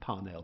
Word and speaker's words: Parnell: My Irish friend said it's pronounced Parnell. Some people pronounce Parnell. But anyway, Parnell or Parnell, he said in 1885,